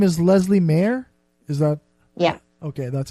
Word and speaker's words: Leslea Mair: my interview with Leslie Mayer your name is Leslie mayor is that yeah okay that's how you pronounce that yeah Leslie now and the name